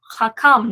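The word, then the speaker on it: חכם: as an amp so hakam notice again two syllables and the accent would be over the calm so thus the calm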